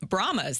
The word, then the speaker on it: Brahmas: they will be facing the BR brahmas that's how you pronounce it correctly I'm still not used to that the San Antonio bromas it's a very unique